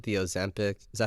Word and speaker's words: Ozempic: So back to like the Ozempic. Is that how you pronounce it?